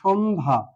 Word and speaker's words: সন্ধ্যা: যদি কোনো যুক্ত বর্ণের সাথে জ ফলা থাকে তাহলে সেই বর্ণটি উচ্চারণের সময় কোনো ধরনের প্রভাব ফেলবে না। যেমন একটি শব্দ নিয়ে থাকি, সন্ধ্যা, সন্ধ্যা, সন্ধ্যা শব্দটি নিলাম।